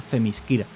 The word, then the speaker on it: Themyscira: tal cual está escrito, si contemporáneo alguien intenta leer correctamente tal y como se escribe Themyscira, la lectura correcta del nombre sería Themyscira.